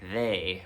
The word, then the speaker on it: ye: an actual y so you should really just say they old instead of Ye Old in that case um and I'll just